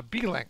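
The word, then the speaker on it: Beelink: wrong uh orders uh b-link I'm sorry B link like blink b-e-e-l-i-n-k can you post a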